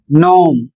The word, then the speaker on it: gnaw: इसका सही उच्चारण होगा नोम। और इसका अर्थ है एक काल्पनिक बौना प्राणी। दूसरा शब्द है जी एन ए डब्ल्यू। और इसको पढ़ा जाएगा नौ।